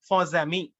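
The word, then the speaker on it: faux amis: concept called false friends in french it's called fosumi f-a-u-x a-m-i-s or false cognates in the sense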